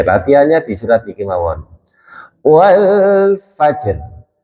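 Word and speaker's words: والفجر: Huruf jim dan huruf ro sama-sama sukun. Jimnya sukun asli, rnya sukun arid, sukun jadi-jadian. Tadinya enggak sukun jadi sukun. Nah, kemudian cara membacanya jimnya dulu disempurnakan. Jim sifatnya apa? Siddah. Karena masuk di baju kan sidah nggih. Berarti lek enggak ada ekornya langsung. Wal fajr.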